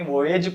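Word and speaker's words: voyage: ठीक है, time charter और वोयेज चार्टर जो है, इसको बहुत सारे वोयेज पढ़ते हैं, वोयेज नहीं वोयेज पढ़ते हैं इसे। ठीक है, क्या पढ़ना है? वोयेज। तो टाइम चार्टर और वोयेज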